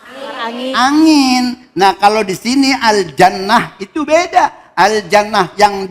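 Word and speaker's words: الجنة: Ketika ini dibaca, ini taknya pakai apa namanya? Hamas. Jannat. Gitu ya. Coba bareng. Siji loro telu. Oke. Terus yang kemudian yang satu akhirnya huruf H. Bacanya al jannah.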